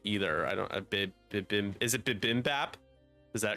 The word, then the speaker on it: bibimbap: I don't even think it's spelled right either. I don't. Is it Bibimbap? Is that correct? It is Bibimbap, and I did have to correct the spelling afterwards.